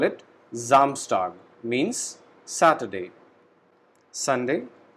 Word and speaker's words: Samstag: Monday, Montag, Tuesday, Dienstag, Wednesday, Mittwoch, Thursday, Donnerstag, Friday, Freitag, Saturday, Samstag. In this word, S alphabet is pronounced as Z. So we call it Samstag, means Saturday.